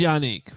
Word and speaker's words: Yannick: It is Yannick, confirmed by JJ Stankovitz. JJ Stankovitz, the PA voice. It's just like an anchorman. Yannick, New York.